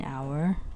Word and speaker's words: hour: with a vowel but we also use an with words that begin with the silent letter H for example an hour an honest child and